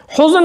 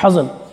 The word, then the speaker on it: حزن: کوئی حزن نہیں ہے۔ حزن ہم اپنی اردو زبان میں کہہ دیتے ہیں، یہ حزن اس کا صحیح تلفظ عربی زبان کے اندر، حزن، کوئی غم و حزن